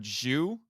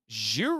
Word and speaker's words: Zyu: you got the word Jew in the name it's which is pronounced like the Japanese word for the number ten there was a rumor